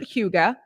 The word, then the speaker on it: hygge: denmark than in norway you pronounce it huga and then this is